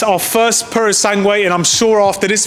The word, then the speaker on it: Purosangue: Is that how you pronounce it? Yeah, Ferrari Purosangue.